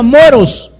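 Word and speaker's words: μωρός: griego es la 3474 que se pronuncia moros por eso es que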